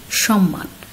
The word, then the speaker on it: সম্মান: সঠিক উচ্চারণ সম্মান। আর নিয়ম যেটি বলছে, যেহেতু ময়ের সাথে আবার একটি মফলা যুক্ত হয়েছে, সেক্ষেত্রে আমরা ময়ের উচ্চারণটি পাচ্ছি। যেমন সম্মান, দুটো ম এখানে দিত্ত হয়েছে, অর্থাৎ ময়ের উচ্চারণটা আমরা এখানে আলাদা করে পেয়ে যাচ্ছি।